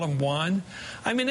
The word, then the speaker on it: Juan: Because I watched the clip over and over again, and he does call him Juan. He pronounces it correctly. He doesn't use a condescending tone of voice. It's just Juan.